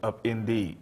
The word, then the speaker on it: Upinde: Upinde, it means rainbow in Swahili, but we pronounce it Upinde because it also applies to our program.